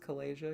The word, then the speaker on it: Kalasia: Team Alpha's stationed in Eastern Kalasia. By the way, it's pronounced Kalasia because it's Dinosaur Asia.